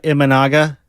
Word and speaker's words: Imanaga: Imaga. I don't even know if I'm pronouncing that properly. Imaga. Save that for mispronunciation. No, save his. Both of ours. What is it, Lubbock? I think it's Shota Imanaga.